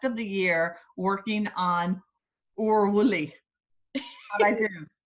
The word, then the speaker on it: Willy: That is what that is saying, but Willy is how you say it in Scottish.